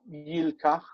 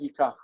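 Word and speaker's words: יקח: for the he form, it would have been like yilkach, that with over time they just stopped pronouncing the lamed. Yeah. Instead of saying yilkach, they just stopped saying it and they said yikach.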